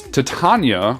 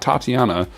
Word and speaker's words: Titania: is Plexi cosplay as Titania I looked up how to pronounce that from Warframe um it's not Tatiana um but Plexi made